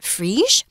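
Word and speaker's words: Phryges: I'm trying my best to do my French reading. So this word should be pronounced Frige.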